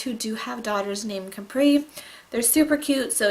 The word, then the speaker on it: Capri: if on your phone, it actually says that Capri is pronounced as if it were with a K.